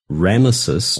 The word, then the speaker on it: Ramesses: And the Bible also mentions that the Israelites built the city of Ramesses. Now, the statues are Ramses. I mispronounced that, but the city is Ramesses.